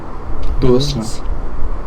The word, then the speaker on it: Bürstner: Bürstner.